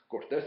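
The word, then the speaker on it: Cortés: this is from Cortez Cortez of course is a proper name so the accent is on the is on the second syllable but Cortes without the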